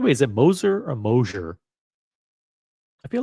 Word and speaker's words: Moser: By the way, is it Moser or Mosier? I feel like it's better to pronounce it Mosier, but maybe not. Maybe it's Moser. Moser sounds dumb. Sounds cheap. Moser. By the way, Moser rhymes with poser.